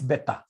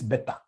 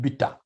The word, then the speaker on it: beta: I don't know whether you should be pronouncing it as beta or better. No, it's this better. It is this better. Not bitter.